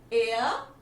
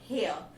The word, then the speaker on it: heir: Heir, heiress. Although its spelling is HEIR, but we'll pronounce it as heir. Okay, not hair. H is silent here.